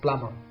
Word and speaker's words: plumber: very easy this one so the silent letter is B so the correct pronunciation of this word is plumber very good now question